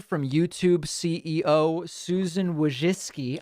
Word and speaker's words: Wojcicki: from youtube ceo susan wojcicki i don't know why i don't even believe it's pronounced that way but that's the way people tell me it's pronounced okay david if you